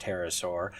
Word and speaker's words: pterosaur: triceratops, and a pterosaur, look, I know it's pronounced pterosaur, a pterosaur embryo preserved in its egg, as well as